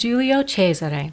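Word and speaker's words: Giulio Cesare: little lesson now pleas it's Julio cheser Julio and a quick lesson in Italian let me see if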